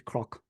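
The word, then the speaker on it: cnoc: oler the word for Hill in oler is Croc it's not knock it's c r it's spelled it's pronounced c r o c but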